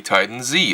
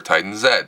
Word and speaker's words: Titan Z: actually not a click made this is a Titan Z our Titan Zed depending on how you want to pronounce it it was quite an expensive card